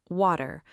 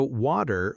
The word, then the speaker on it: water: Take the word water. In many American accents, the T in the middle can sound similar to a quick D. So water may sound more like waiter. Another example is better.